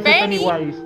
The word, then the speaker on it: Pennywise: Pennywise, que se escribe así. Se dice Pennywise.